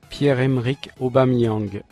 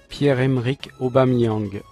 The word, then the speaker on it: Pierre-Emerick Aubameyang: Pierre-Emerick Aubameyang. Pierre-Emerick Aubameyang.